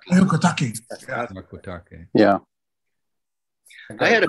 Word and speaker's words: Hyakutake: I always pronounce it Hyakutake. Hyakutake.